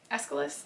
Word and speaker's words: Aeschylus: We have the Oresteia by Aeschylus, I believe is how you pronounce it, which is a Greek trilogy, tragic trilogy of plays about the house of Atreus, right?